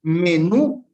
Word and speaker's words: menú: Me-nú, dos sílabas. Y nos dice que para que sea aguda debe tener su sílaba, eh, debe estar acentuada en la sílaba tónica, ¿no es cierto? La última sílaba debe ser tónica, es decir, la de acá, me-nú.